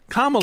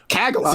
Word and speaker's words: Kamala: Kamala. Yes. Kagala.